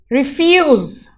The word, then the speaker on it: refuse: The second verb here, refuse. Here the IF is a noun. Syllable is emphasized in this, the IF, and the refuse is a verb here.